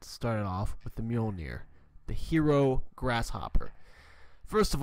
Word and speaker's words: Mjolnir: __ ] grasshopper the Mjolnir Mjolnir it's called the meal near I think that's how you pronounce it I've had my eye